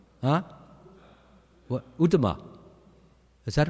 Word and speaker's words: Uttama: Was it Anuttama? Huh? What? Uttama.